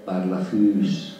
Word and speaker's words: Barlafus: Anzi, la pronuncia giusta è Barlafus.